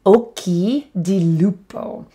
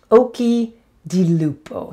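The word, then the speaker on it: occhi di lupo: animal and that is okie di lupo oki di lupo so the first word is oki occ h i again there's that ch pronounced with the k sound i keep saying this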